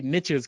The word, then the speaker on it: niches: all right uh so i say niches because it rhymes with uh riches so niches bring riches